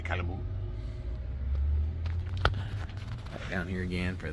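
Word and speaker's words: Calumet: And the I think you don't pronounce the T, the Calamoo.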